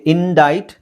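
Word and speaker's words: indict: C silent ಆಗಿರುತ್ತೆ okay ಇಂಡೈಟ್ ಇಲ್ಲೂ C silent ಇಂಡೈಟ್ ಇಲ್ಲಿ ಫಸಾಡ್ ಫಸಾಡ್ ಸೋ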